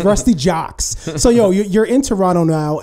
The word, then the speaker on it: Juxx: Like they say, like I be like, nah, it rhymes with books, crooks, looks. Ruste Juxx, Ruste Juxx.